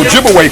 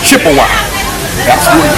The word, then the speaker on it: Ojibwe: And of course, they corrupted the pronunciation of the Ojibwe people to Chippewa. So Chippewa and Ojibwe, that's the same people. But Chippewa is the European corruption of their real name, Ojibwe.